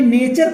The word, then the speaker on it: nature: बात समझना, टी भले कि क्वेश्चन पढ़ा जाएगा, NATURE, तो नेटर नहीं नेचर पढ़ते, चा आ जाता है, बात समझना।